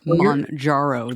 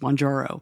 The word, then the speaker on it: Mounjaro: I should be clear I'm not sure I pronounced it correctly but it is monjaro the end comes first monjaro yeah you know it's